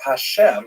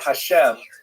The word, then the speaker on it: Hashem: And the word Hashem of course is pronounced with the letter H.